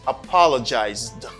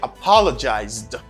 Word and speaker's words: apologized: Apologize is a verb, and its past form is apologized, the D sound. You say apologized, apologized.